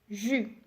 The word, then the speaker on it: jus: donc c'est une boisson attention ne prononce pas le s final d'accord ça se prononce jus tu as aussi julie